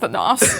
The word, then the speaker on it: Thanos: Well said, Thanos. Oh, thanks. It's pronounced Thanos.